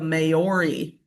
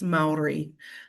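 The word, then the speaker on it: Māori: And I confidently said, "Ah, yes, I'm excited to learn more about the Maori." And she kind of cringed and said, "It's Maori." And I was like, that sounds way better than what I said.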